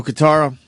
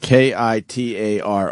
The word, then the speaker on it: Kitaro: No Guitaro? How do you spell it? Kitaro. Oh, Jesus. Oh, I thought it was Guitaro. That's what he was spelling.